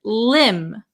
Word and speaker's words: limb: The B is also silent. So, we would pronounce this word limb.